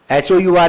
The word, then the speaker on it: hour: अरे लिखते तो हावर ही है, एच साइलेंट हो गया जी। क्यों साइलेंट हो गया भाई? HOUR ही लिखेंगे ना आवर्स को, तो वो होरा कही तो 24 हावर्स कर दिया उन्होंने।